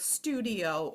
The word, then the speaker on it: studio: the letter I and I followed by a vowel is usually not part of a vowel team and it says e okay so we can see it in a word like Studio or Scorpio we can then um